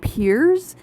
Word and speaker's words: Perez: And so there's characters like Kersey and Perez, they are pronounced Kiersey and Piers, and that just really annoys me because that's not how I pronounce them.